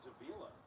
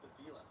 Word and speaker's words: Davila: the Seattle monorail, but I think it's Davila, according to their pronunciation guide. Rich butchered it. Butchered it. Sorry, Rick. So we're going with Davila.